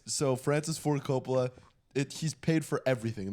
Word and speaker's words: Francis Ford Coppola: Francis Ford Coppola.